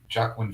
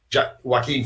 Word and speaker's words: Joaquin: Jacqueline Phoenix. Joaquin Phoenix.